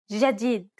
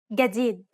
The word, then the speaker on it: جديد: In Standard, جديد and in Egyptian. جديد. Of course, both pronunciations are correct.